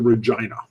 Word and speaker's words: Regina: I would love to get up to Regina. Rhymes with a female body part.